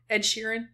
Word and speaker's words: Ed Sheeran: Ed Sheeran?